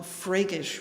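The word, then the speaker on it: freygish: also this mode is often called freykish which is spelled f r e y g i s h do you think that's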